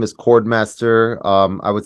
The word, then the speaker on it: Khordmaster: Artist name is Khordmaster. I would say the two, well, it's spelled with a KH.